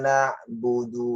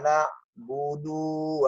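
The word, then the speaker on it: نعبد: kah Ndak mundur jadi na'budu disini pendek aja jalan membacanya iyyaka nabudu wa iya itu salah yang benar adalah iyyaka na'budu waiyyaka segitu ndak jiwa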